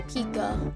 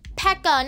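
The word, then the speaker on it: P.E.K.K.A: a bunch of mini pikas or a normal pika slash pekka whatever one kid in my school kept like no it's pronounced pekka not pika so whatever also him and his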